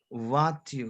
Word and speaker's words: voiture: Voiture, Voiture. exactement. Why voiture? Because OI sound is wa in Wa. French. Wa. We have, yes, and we have E sound is a. Voiture. Voiture. Voiture, exactement. Voiture.